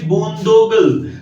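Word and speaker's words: boondoggle: और next word of द डे इज, ये भी आपको बहुत इंटरेस्टिंग लगेगा, इसका प्रोनाउंसिएशन है बूंदोगल। तो गूगल है, गूगल की बूंदे हैं बूंदोगल, ऐसे मैंने याद किया।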